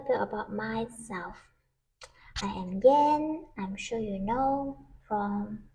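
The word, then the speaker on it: Yann: from my YouTube channel so usually people pronounce as Yan because it's y a n n but you actually read the a as e so it's Yen if you knew Japanese currency you'll know how to pronounce Yen and that's my name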